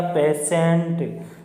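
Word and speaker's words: patient: आई ई एन टी, तो देखिए टी के बाद में क्या आ रहा है, आई ई आ रहा है, तो यहाँ पर टी का जो टी आई ई, इसका उच्चारण क्या होगा, से के रूप में होगा।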